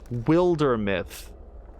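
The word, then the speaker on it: Wildermyth: uh the game except they pronounced it uh Wilder myth and it occurred to me guys it occurred to me for the very first time it's word play on Wilderness it's Wilder myth it just never I'm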